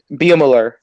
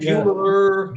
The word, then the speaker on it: Beumeler: How is it pronounced, Taylor? Beumeler. Beumeler. Right. Beumeler.